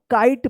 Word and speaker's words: kite: जी हां, सही बोला आपने, आई का आई उच्चारण होता है और इस ई का कोई उच्चारण नहीं होगा। तो क्या पढ़ेंगे इसको? काइट पढ़ेंगे।